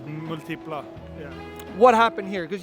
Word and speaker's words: Multipla: next to his Fiat multia how do you pronounce it uh I say like multipla yeah what happened here cuz you have a